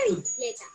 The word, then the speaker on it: bicicleta: Volvamos a escuchar la palabra bicicleta. Bicicleta. La sílaba cle suena más fuerte que las otras.